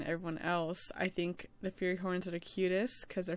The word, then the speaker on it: Fury Horn: So I've been saying like Furry Horn instead of Fury Horn because freaking Rat has said it first and then I got messed up.